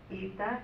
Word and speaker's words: Eta: later on president of, I'm going to say ETA. In Greek, we say ETA Kappa Nu. So it is a little different than the way you pronounced it, but that's okay.